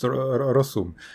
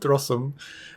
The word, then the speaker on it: Rossum: How do you pronounce Rossum? Is it Rossum's? Rossum's? How do you pronounce it? I don't know. Like in Czech, I would say Rossum.